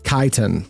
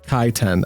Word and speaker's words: Chitin: Kaiten. Is that how you're supposed to pronounce it? Kaiten? Kaiten. I guess that would make sense. Like I'm not used to pronouncing ch like ch like k, but I know that there are some times when that's correct. I didn't even think about that.